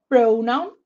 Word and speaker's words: pronoun: So these 3 words that are frequently said in class by teachers all have the stress on the first syllable. Adjective, pronoun, and warm up.